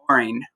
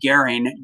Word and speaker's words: Göring: Now, this guy, Hermann Göring, or Hermann Goering, depending on how you pronounce it, I've heard people pronounce it both ways, was one of Hitler's right-hand men.